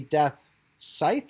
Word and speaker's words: Death Scythe: I know it's supposed to be Death Scythe, I think it is. Yeah, because somebody actually spelled out and said the C is silent, and they spelled it like, you know, SCYLENT.